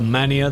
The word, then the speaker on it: MAN: of it being a mania, that sort of thing, they'd be like, no, it's MAN. You must say MAN because it does stand for something in German. So you must say it properly.